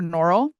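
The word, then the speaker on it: Norrell: creepy so I've continued I can also correct and give the correct pronunciation I've continued Jonathan strange and Mr norl by Susanna Clark so it's Mr norl it is very Charles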